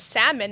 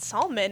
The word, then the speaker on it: salmon: my mom I'm like Mom you know it's salmon not salmon and she was like I don't care there's